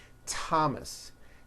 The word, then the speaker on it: Thomas: like to point out although these next words and names are spelled with a th they are pronounced as if they were spelled with a normal t t like that and these words are thomas